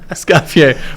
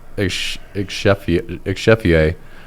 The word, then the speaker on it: Escoffier: Escoffier makes a lot more sense. The way I was going to pronounce it, because I was going to go on this whole rant, I thought it was Exchefier.